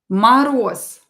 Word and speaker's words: мороз: Мороз. Мороз, frost. Мороз. Мороз. The same here, Z will be pronounced as S.